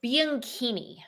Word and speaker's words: Bianchini: It is Bianchini. Bianchini. So the CH is a K sound because it's Italian.